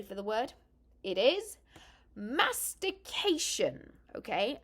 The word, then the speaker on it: mastication: going to tell you be careful how you say it mhm one slipped up letter and you could be rather embarrassed uh so are you ready for the word it is mastication okay mastication this is the act